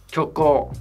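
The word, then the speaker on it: 虚構: そっか、虚構。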